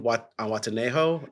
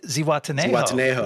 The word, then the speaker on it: Zihuatanejo: Zihuatanejo? No. Zihuatanejo.